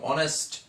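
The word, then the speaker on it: honest: আমরা জানি অনেস্ট, এখানে ইজ হর মতো উচ্চারণ হয়নি, এই জন্য এখানে অ্যান হয়েছে।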